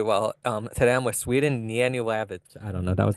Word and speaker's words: Yanulavich: I'm Sweden Yanulavich. The H is pronounced silently.